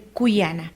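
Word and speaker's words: kuyana: país se pronuncia cuana en la zona norte del país se pronuncia Juana nosotros aplicaremos el cuyana pasemos a la práctica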